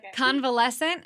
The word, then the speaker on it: convalescent: to talk about, and I'm probably going to pronounce this wrong, so you'll have to correct me again, but Okay. convalescent, am I saying it right?